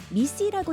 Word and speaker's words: MECE: 보편적으로 활용되는 분석 방법입니다 mece는 미씨라고 읽습니다 뮤추얼리 익스클루스 컬렉티블리 이그저스티브의